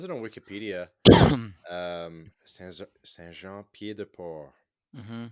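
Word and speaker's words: Saint-Jean-Pied-de-Port: Saint Jean Pied de Port. hmm The T is silent on Port, by the way.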